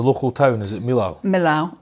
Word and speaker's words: Millau: Millau, or Mille if you're French. If you can say it properly.